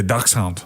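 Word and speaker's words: dachshund: that's why they're all chubby are you saying Ducks Hound is that how you say it yeah duck Hound so he's he's German you all that stuff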